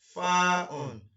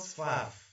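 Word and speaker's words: فاء: And in full pronunciation, it is called Fa'un. Please, it is not Faf. Generally, people call it Faf, but it is not Faf. It is Fa'un. And this is the shape, this is the image of Fa'un.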